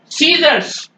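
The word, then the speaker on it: scissors: बोलना मसल है मसल और सीजर्स सीजर्स यहां सी नहीं बोला जा रहा है सीजर्स और एेंट में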